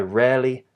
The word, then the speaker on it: rarely: really and again here the r is also silent in standard British English so rarely in this case rhymes